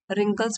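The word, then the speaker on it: wrinkles: उनको बोलते हैं रिंकल्स डब्लू साइलेंट होता है रिंकल्स मींस झुरियां लेकिन उनकी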